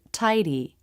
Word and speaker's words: tidy: The word tidy. Here the D comes after a diphthong and before a vowel, so it's a flap D.